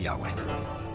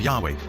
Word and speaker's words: Yahweh: So his title, in a sense, was God, and his name was these 4 letters, which in English would be YHWH, which we think were probably pronounced something like Yahweh.